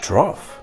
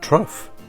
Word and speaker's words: trough: trough they sometimes drink from them too it's pronounced trough but it's rough with the tea in the front trough i should roughly pronounce broth don't be ridiculous